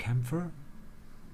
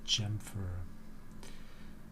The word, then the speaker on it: chamfer: still maybe 275 yeah let's add a camphor or chamfer because also the Chamber of Secrets so I should pronounce it chamfer I need chamfer and